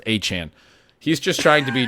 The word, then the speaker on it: Etienne: Travis Etienne claims his name is pronounced A-Chan.